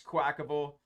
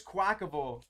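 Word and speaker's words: Quaquaval: the fire always X I know there's some debate on how to pronounce this name but I'm fairly certain it's quackable and that I've been mispronouncing it this whole time but there's gonna be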